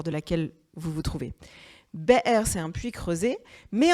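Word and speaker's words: באר: Et je voudrais qu'on s'intéresse une seconde au mot « be'er » en hébreu. Le mot puits, vous voyez, ça s'écrit Bet, Aleph, Resh.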